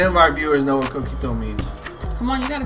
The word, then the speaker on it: coquito: Well, coquito, I'm saying it right? Coquito?